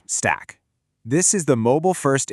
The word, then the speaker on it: STAK: Enter STNA, which is pronounced stack.